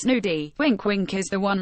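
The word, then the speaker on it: gnudi: The nudie pronounced nudie.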